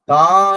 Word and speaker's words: தா: தா என்று உச்சரிக்கும் போது அங்க வந்து ஆ என்ற எழுத்தோட ஒளி வரும்.